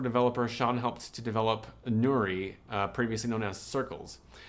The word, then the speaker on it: Nouri: And we're going to go through a brand change, and we're going to be renamed to Nouri for Nourish. Oh, okay. So how do you spell that? Nourish without the SH.